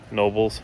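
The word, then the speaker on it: Knoebels: Of course, home to Hershey Park, Kennywood, Nobles, not pronouncing the K, Dorney Park, and some others that we haven't been to.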